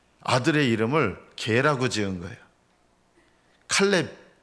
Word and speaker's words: 칼렙: 갈렙의 아버지 여분네가 왜 아들 이름을 이상하게 지었는지 모르겠어요. 이스라엘 사람들에겐 부정한 동물이 있거든요, 개가. 근데 아들의 이름을 개라고 지은 거예요. 칼렙. 우리말 성경에는 갈렙. 원래 발음대로는 칼렙인데요.